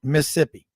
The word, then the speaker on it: Mississippi: Well, if you're going to be a Mississippi boy, you got to learn how to say it right. Mississippi. It's just Mississippi. SIP, baby.